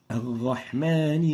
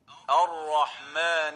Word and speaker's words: الرحمن: We'll proceed now with the common mistakes of the ra, and the first one is replacing the ra with a ghain. الرحمن الرحيم.